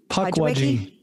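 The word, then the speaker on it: Pukwudgie: Before we go any further, how is it pronounced? Because I'm pretty sure everybody said it differently. Puckwudgie.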